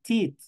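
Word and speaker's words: teeth: yo hablo de diente yo digo tut tut es singular mientras yo quiero decir dientes yo digo tit Che es plural Entonces ya saben ustedes tut para el singular Che para el plural esta doble o igual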